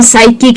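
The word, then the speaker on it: psychic: जब उसके आगे एस का स्पेलिंग हो, यानी कि पी एस अगर किसी स्पेलिंग में आप देखते हैं, जैसे कि साइकोलॉजी है या साइकिक है या साइकाइट्री है, ऐसे कोई भी वर्ड्स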